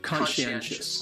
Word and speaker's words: conscientious: this Learners are conscious conscientious as four syllabus and the stresses conscious is on the first animal and the stress is on the third syllable well okay it's on the third level my bad yes conscientious conscientious the second syllable is what really confuses people because the sci almost sounds like you're saying she conscientious and conscientious conscientious